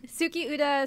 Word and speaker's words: Tsukiuta: show sukiyuta the animation tsuki UDA spelled with T s-u-k-i-u-t-a so it's not s it's like moon song